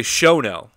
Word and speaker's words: Shono: Is it Shono or Shono? I say Shono, like S-H-O-W.